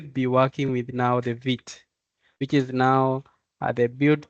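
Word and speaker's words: Vite: yeah something like that so vit now is a French uh W or quick and it's most cases pro pronounced as vit and uh it's a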